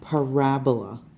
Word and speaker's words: parabola: quadratic function forms of parabola and you're gonna need to know how to say this word its parabola it looks like parabola like Ebola but we're just gonna do